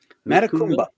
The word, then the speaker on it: Matecumbe: So now, how do you pronounce that? Matecumbe? Matecumbe. Matecumbe. Mm-hmm. Matecumbe.